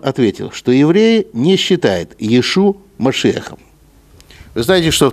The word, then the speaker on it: Иешу: Так или иначе, не знаю, но, по крайней мере, в еврейской традиции, в раввинистической, произносят не Иешуа, а Иешу.